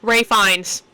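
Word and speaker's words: Ralph Fiennes: Ray Fines. That's how you say his name.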